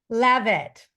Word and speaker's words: Leavitt: we go so how do you say your last name levit Leave it to levit leave it to levit